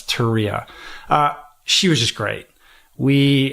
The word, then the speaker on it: Turia: Yeah, it's Turia.